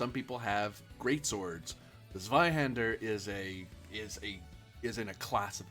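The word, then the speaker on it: Zweihänder: So, the sword is a Zweihander, or Zweihanda, if you want to pronounce it properly, which is it's basically a gigantic two-handed sword.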